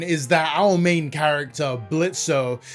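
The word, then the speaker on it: Blitzø: The plot of Helluva season 1 is that our main character, Blitzo, the O is silent, runs a mercenary company that specifically deals with disgruntled sinners who want revenge on people still living in Earth.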